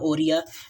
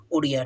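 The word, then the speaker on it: Odia: बनाया कौन सी country the ओरिया language in eight schedule shall be pronounced as ओडिया ठीक है 97 में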